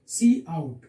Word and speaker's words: cout: So output statement, that cout is used. Cout is that object is used. Cout is used with this two angle bracket. What is that? This is angle bracket. We say it cout.